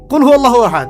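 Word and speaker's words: قُلْ هُوَ اللَّهُ أَحَدٌ: কুল হুয়াল্লাহু আহাদ, এটা কি সব একসাথে মিলে একটা শব্দ?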